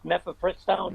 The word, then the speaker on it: mifepristone: I can never pronounce this. Mifepristone.